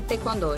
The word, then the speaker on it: taekwondo: eu trabalhava na produção, era terceiro setor e taekwondo, especificamente. Você praticava taekwondo, né? Sim. Taekwondo, isso. é a pronúncia correta.